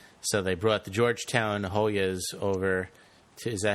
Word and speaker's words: Hoya: So they brought the Georgetown Hoyas over to, is that how you pronounce it? Hoya?